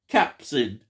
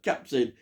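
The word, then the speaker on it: Capucine: she pops up, is Cadurine, or as it's pronounced, should be, Capsin. Capsin, that's what I've got here, Capsin.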